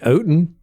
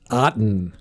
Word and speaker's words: Otton: on phonics she said just say cotton it's like cotton without the c so now and i